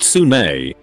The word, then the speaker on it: Sune: Soon, pronounced Sune, is the Forgotten Realms version of Aphrodite.